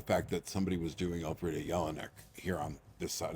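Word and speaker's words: Elfriede: grabbed by the fact that somebody was doing Alfreda Yelan here on this side of the Atlantic who is a noted Austrian writer playwright thinker essaist. She's she's brilliant. Can you say her name again? Alfreda E L F R I E D.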